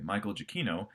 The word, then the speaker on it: Michael Giacchino: me is that the music was written by Michael Giacchino. Yes, that's how you actually pronounce his name.